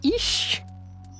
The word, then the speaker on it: YCH: Wait, it's actually pronounced ish. Yeah, ish. So it's just YCH.